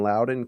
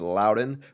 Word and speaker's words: Loudoun: throughout the day, it's Loudoun, but there's a random N in there that makes you wonder, like, is it something else? It must be like a silent N, sort of like Camel, Ohio, and it's spelled Campbell.